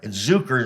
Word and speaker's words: Zuker: there's no I mean I pronounce it zuker so no one puts